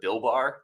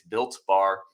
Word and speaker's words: Built Bar: have mispronounced it once I called it Bill bar and somebody was trying to find Bill bars it's built bar they're incredible if you're